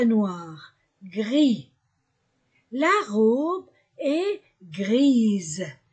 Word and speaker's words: grise: gris la robe est grise s entre deux voyelles se prononce ze grise la robe et